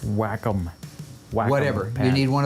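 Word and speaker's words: Wacom: Oh, it's pronounced whack-em.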